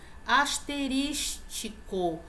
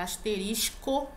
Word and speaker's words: asterisco: Asterístico que é aquele sinal que parece uma estrelinha, né? Então a pronúncia é asterisco, não é tico, asterístico, não, é asterisco.